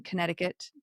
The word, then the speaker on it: Connecticut: Um, they did make a stop in Connecticut to pick up a new assistant engineer. Do you ever say Connecticut when you're trying to spell it? Because there's like a C right there. Connect.